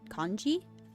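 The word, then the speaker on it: congee: brings over a generous bowl of seafood con conji that's how you say it oh that's cute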